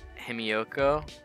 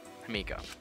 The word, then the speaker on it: Himiko: Himioko? Himiko. I used my syllables.